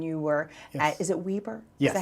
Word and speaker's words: Weber: You even taught classes when you were at, is it Weber? Yes. Is that how you pronounce it?